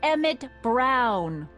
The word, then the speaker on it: Emmett Brown: bill to a tee that's Emmett Brown rhymes with clown which I'm beginning to